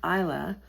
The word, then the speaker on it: Islay: It's pronounced Brookleti and it's on the island of Isa.